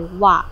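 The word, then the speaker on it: は: Of course, after the subject, we have the wa, but written by ha, but pronounced by wa.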